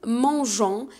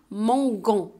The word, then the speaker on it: mangeons: haut et le g parce que si on n'a pas ajouté le on va prononcer mangue ans alors que c'est non on va ajouter les oeufs pour dire nous mangeons d'accord dans la prononciation